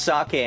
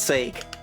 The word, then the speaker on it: sake: Man, they went out of their way to put like a like an axante goo on that on that e so you know that it's pronounced sake and not sake.